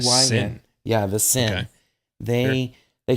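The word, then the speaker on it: Cyn: We have a 4th character that showed up, and they are called the Sin. That's spelled C-Y-N. Sin.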